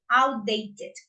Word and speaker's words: outdated: the d but here we have a strong sound that is T that is the last one that we pronounce yeah so we say we need to add another syllable outdated okay good so I